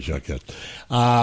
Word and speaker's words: Jacquet: Blues from Louisiana, and it's you had asked me how to pronounce his last name, Yeah. and it's Jacquette, but since I mispronounced it Jacquet the first time, Yeah, I would be went tempted.